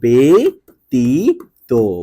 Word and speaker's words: ব্যতীত: ওকে, ঠিক একইভাবে এইটার উচ্চারণ কিন্তু ব্যতীত নয়, এটির উচ্চারণ হলো ব্যতীত, বুঝছো না।